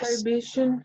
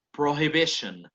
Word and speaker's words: prohibition: Solo una cosita, hagámosle sonar a esa H. ¿Cómo me quedaría la pronunciación? It would be something like prohibition. Prohibition. La H va a sonar, ¿no? No va a ser muda como en español.